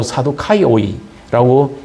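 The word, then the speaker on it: Σαδδουκαῖοι: 이 사두개인이라 하고 하는 이 말은 헬라로 사두카이오이라고 읽습니다.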